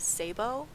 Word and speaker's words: Szabo: name because it doesn't I don't even pronounce my last name the way it's supposed to be pronounced. I I've always pronounced it as Sabbo.